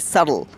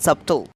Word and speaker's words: subtle: it also be silent water disease you btle subtle and it is runs a subtle not subtool okay now it's about the 4th day of